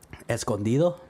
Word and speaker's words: Escondido: news I was in Escondido or Southern California Escondido mm-hm that's how you say it by the